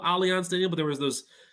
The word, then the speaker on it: Allianz: Dude, it's Allianz Arena. Remember they tried to almost have MetLife Stadium called Allianz Stadium, but there was those, German things that basically they couldn't have, the ties there.